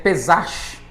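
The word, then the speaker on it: פסח: A Páscoa, ela tem um um pronúncia hebraica que quer dizer pesach, né?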